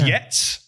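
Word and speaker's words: jetzt: and very yeah so the German for now is yet but uh it's spelled t-z-t at the end j e t z t um but but um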